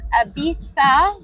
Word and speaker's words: Ibiza: this is the Hard Rock Resort here in Ibiza which is actually pronounced Abita so I'm not going to be seeing any